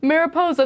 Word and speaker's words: Mariposa: Mariposa. There we go. That's what I was trying to pronounce.